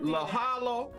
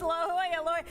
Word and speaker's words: La Jolla: to pronounce look la la hoya oh do not call it la jala do not do i'm calling it la jala la hallo the jalapeno pepper everything about la jolla it's la hoya hey by the way